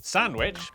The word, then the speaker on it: Sandwich: the cester in, Cirencester, the W in, Sandwich.